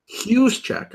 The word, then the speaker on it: Juszczyk: It's a H. Juszczyk. Okay. Oh, it's like a jalapeno.